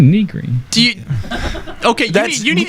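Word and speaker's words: Nigri: Jessica Niggery, and Jim Sterling. Wait, whoa! Back that train up. Say Overclocked Remix? No, the second name. Jessica Niggery? What? Negri. What? It's pronounced Negri.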